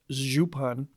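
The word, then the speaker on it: župan: the most important are zupan pronounced zupan and Pan the latter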